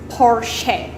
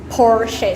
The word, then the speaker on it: Porsche: the first one is porsche porsche so you stress on the first letter of the word porsche so you some people